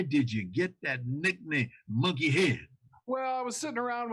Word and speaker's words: Munkihaid: And you have to pronounce it the way it's spelled. You have to pronounce it phonetically. Munkihaid. That's right, Munkihaid.